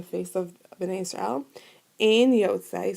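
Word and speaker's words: יוצא: Ein yotzei, so yotzei rhymes with like shomer, right?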